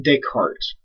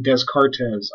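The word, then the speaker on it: Descartes: is a fellow by the name of Renee deart it's a French name so it's not desz it's deart and if you mispronounce this name I swear like Liam n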